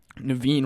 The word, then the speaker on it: Naveen: this first one says naveen rhymes with vaccine i was on facetime